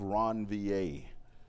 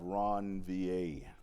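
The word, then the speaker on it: Ranvier: But the brakes inside of the myelin area are called nodes of ronvier. So nodes of ronvier that's how that's pronounced ronvier.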